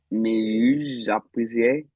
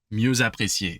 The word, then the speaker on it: mieux apprécié: Oh, you missed the liaison right here. Can you find it? Is it mieux apprécié? Mieux apprécié, exactly. Oh, muse. Très bien. Mieux, so mieux by itself, but mieux apprécié.